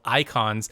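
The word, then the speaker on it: Eikon: learn shortly, they're called icons. And it's not I-C-O-N, it's E-I-K-O-N, I believe, if they're going off of how it's spelled in Final Fantasy XIV.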